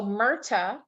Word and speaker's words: MRTA: may have questions so murta is the pronunciation of the mrta that's number one justice